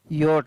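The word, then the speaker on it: yacht: लेकिन YACST, यहाँ पर इसको यॉट, नौका पढ़ा गया है, क्योंकि यहाँ पर CS का उच्चारण ही नहीं हो रहा है, तो ये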